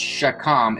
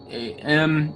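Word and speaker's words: חָכָם: Okay, so in the original Hebrew translation, it's pronounced shakam. It's Chakam, and the meaning of that word is actually skilled.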